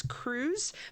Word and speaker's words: Crews: Um and it's Cruz, but it's spelled C R E WS, which is actually my last name.